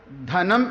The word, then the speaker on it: ധനം: എന്നും പറയും അത് തെറ്റാണ് ധനം എന്ന് തന്നെ ഊന്നൽ കൊടുത്തു പറയണം അത് ധ എന്നതാണ് മറ്റേത്